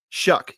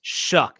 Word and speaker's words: Shough: Shuck, yes. Shuck. It's spelled Shough, but it's pronounced shuck, like you're shucking corn, like an ear of corn.